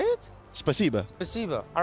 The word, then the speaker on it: Спасибо: Spasiba.